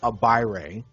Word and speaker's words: Agbaire: First, we've got one of the originals, David, and for the record, his name is pronounced Agbaire.